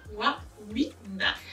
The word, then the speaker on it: Wawina: C'est comment on prononce le nom? Magic Wawina, n'est-ce pas? Wawina.